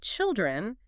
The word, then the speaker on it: children: But when we add the plural suffix to make children, the vowel just collapses into a short I rhyming with pill.